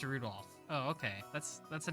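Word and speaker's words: Rudolf: on it's just anyways this guy's name is pronounced rudolph oh okay that's that's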